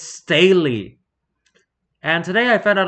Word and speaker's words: Staley: do not know dude are you Lane Stanley don't like that name sake it's Staley and today I found